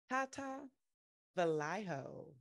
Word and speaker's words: Tata Velayo: luck family get to bring to the stage Tata Vallejo welcome to traffic enters life how you doing